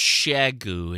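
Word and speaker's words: Xiegu: Yeah, so it's pronounced Shagu.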